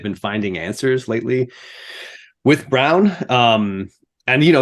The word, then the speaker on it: Braun: about uh Christian Brown it's pronounced Brown apparently not Braun I I learned that